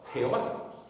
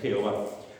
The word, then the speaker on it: Jehová: la de adonay y la insertaron entre las consonantes de de manera que se pronunciaba Jehová Eh Así que ellos es lo que hicieron como no lo podían pronunciar cogieron los vocales de adonay y lo y lo insertaron en ese nombre y así podían por decir podían decir eh Jehová la palabra yahvé o